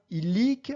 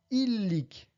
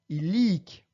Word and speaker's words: illic: On prononce bien illic en accentuant sur la première syllabe en partant de la fin, et non pas illic, mais bien illic.